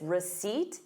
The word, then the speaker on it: receipt: So notice receipt. You have the word seat in it.